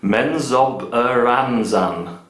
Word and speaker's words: Menzoberranzan: more victory points, like, let me practice my pronunciation here, Menzoberranzan.